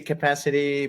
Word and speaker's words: Kapasity: bilingual because you know it's a word play with the word capacity so whenever it's in English I say capacity but as it's spelled